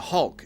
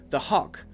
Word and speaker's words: Hulk: very clearly Thor the next one is the Hulk and this actually happened to me once in a conversation I was talking with one of my students and my student was saying the hawk the hawk now I thought my student was